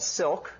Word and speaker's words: Cilk: a um Dynamic multi-threaded language called Silk spelled with a c because it's based on the language C and it's not an acronym uh it's uh because silk is like nice threads okay and although we